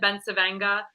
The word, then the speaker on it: Bencivenga: I think because growing up, we always said Bencivenga.